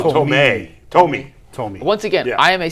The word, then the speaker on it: Thome: What were you calling him? Jim Thome. He says Tomei. Oh, Thome.